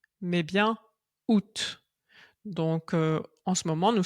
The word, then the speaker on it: août: août parce que évidemment c'est un mot qui ne se prononce pas du tout de la manière dont il est écrit. Donc on ne prononce pas août mais bien août.